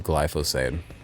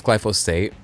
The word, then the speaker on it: glyphosate: Medicaid and thank you glyphosade. Um, and I know it's glyphosate, but to make it rhyme with Medicaid, I did call it glyphosade.